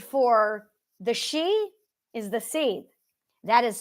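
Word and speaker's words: seiðr: the she is the seed that is spelled s e i d r the r is silent so now you've got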